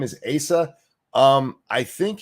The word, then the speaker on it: Asa: Is it pronounced Asa or is that just snooty accent? No, that it's pronounced Asa. It should be Asa, but anyway.